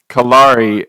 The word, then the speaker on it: Kalare: version of Clara so it's okay so you'd mispronounce it as Claire so kalari and then so why a German first name